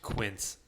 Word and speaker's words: quince: so a all right it's actually pronounced quince i'm sorry i'm not